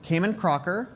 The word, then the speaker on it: Cayman Crocker: Uh, my name is Cayman Crocker. Um, pronounced the same as the islands or the crocodile. Um, but spelled differently.